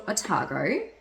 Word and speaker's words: Otago: to Nick we have to go to Central atago did I say that right yes you said